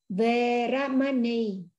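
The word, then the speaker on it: veramaṇī: Adinnadana veramani sikha padang samadhiyami abrahmacariya veramani sikha padang samadhiyami veramani, chẳng đọc là veramani ha. Veramani, ê, đọc giọng ngang kiểu dài ha.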